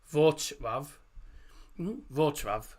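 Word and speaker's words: Wrocław: actually pronounce it, but it's pronounced uh Vav. Uh, Vav Vrav is how it's pronounced.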